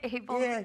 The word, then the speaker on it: Abel: Abel? Yeah. Yeah, we opened up for Saving Abel a while ago.